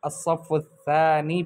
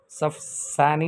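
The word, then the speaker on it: الصف الثاني: ادرس فی الصف الثانی، میں دوسری کلاس میں پڑھتا ہوں۔ دیکھیں اس کو الصف الثانی پڑھنا ہے، صف ثانی نہیں پڑھنا، غلط ہے۔ عربی میں صحیح تلفظ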